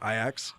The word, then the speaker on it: Ajax: Uh it's spelled Ajax, but it's pronounced Ajax. Really? Yeah, cuz they it's a soft J in the Dutch.